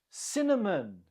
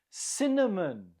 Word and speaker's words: cinnamon: Cinnamon. Cinnamon. Again, the stress is on the first syllable.